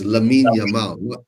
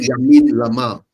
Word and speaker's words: Lamine Yamal: Because and I don't want to say his name because I always mix the L with Y. Which is it first? Is oh, it Jamal. okay? So it's Lamine Yamal, Yeah, not Yamin Lamal.